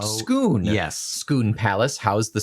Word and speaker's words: Scone: For the record, the village of Skoon Scone in Scotland is pronounced Skoon.